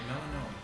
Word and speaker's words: Melinoe: Melanoe. Melinoe. Yeah. Okay, I did say it right. Melanoe.